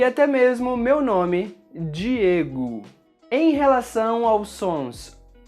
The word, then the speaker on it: Diego: Palavras que terminam com a letra O, em português, sempre são pronunciadas com o som da letra U. Alguns exemplos são rato, carro, barco e até mesmo meu nome, Diego.